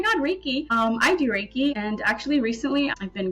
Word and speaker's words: Reiki: Um, so that's awesome that you're a Raiki master and I'm sure that you use that in your massage therapy. So that's honestly so cool. Reiki, pronounced Reiki, is an ancient Japanese healing technique that channels